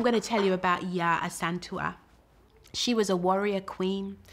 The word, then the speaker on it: Yaa Asantewaa: I'm going to say it right. You've got to say it with the rhythm. I am Yaa Asantewaa.